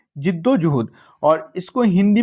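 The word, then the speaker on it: जिद्दोजहद: इसको, इसका right pronunciation क्या है? जिद्दोजुहद।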